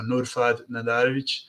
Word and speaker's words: Nurfad Nadarevic: LinkedIn, different live shows, how to say my name, it's Nurfad. So Nurfad Nadarevic. That's the real pronunciation of the name. People are always anglicizing it and changing it.